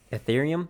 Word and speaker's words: Ethereum: the word you're looking for Mike is ethereum ethereum that's how you pronounce it I see I see I know